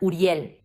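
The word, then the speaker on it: אוּרִיאֵל: Y también un nombre que me parece hermoso es Uriel, que en hebreo lo pronunciamos de una forma muy parecida, Uriel. Y Uriel es ur luz y li mía.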